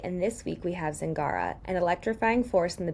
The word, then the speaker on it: Zingara: Can you pronounce your name to make sure I'm pronouncing it right? Yeah, Zingara. Zingara. Okay, just Yeah. like it sounds. Okay, I just wanted to make sure it Yeah. was like a soft G or something.